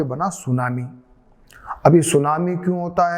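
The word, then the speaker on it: tsunami: अब जरा एक बार देखें, ये सुनामी की जो स्पेलिंग है ना, वो टी आगे लिखते हैं, टी आगे लिख के फिर लिखते हैं सुनामी। तो टी आगे क्यों लिखा?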